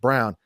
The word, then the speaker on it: Braun: And Christian Braun this year, Brown, I'm sorry. It's spelled Braun, but it's pronounced Brown.